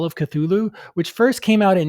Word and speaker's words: Cthulhu: I've been pronouncing it Cthulhu some people pronounce it katulu or katulu Lovecraft himself pronounced it something along the lines of Cthulhu I'm probably not doing